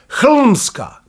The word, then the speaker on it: Hlmska: called exactly and precisely Hlmska. So let's spend a few words on this topic as well. Helmska and not helmska because helm is not a Serbian pronunciation, the word is already Germanic.